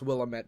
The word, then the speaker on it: Willamette: I know it's pronounced Willamette because of Dead Rising.